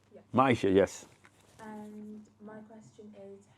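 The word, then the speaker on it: Myisha: awesome awesome awesome my name how do you spell that m y i s h a Maisha Maisha yes and my question is how did theet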